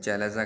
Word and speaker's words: chalaza: चैलेजा कहते हैं, कुछ कैलेजा भी कहते हैं। जैसी आपके प्रोनाउंसिएशन हो वैसा याद कर लीजिए, आपको याद करना आगे बार, ठीक है।